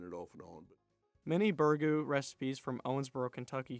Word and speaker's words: Burgoo: people pronounce it as bergu or burgo eliminating the second o depending on who you talk to you're going to hear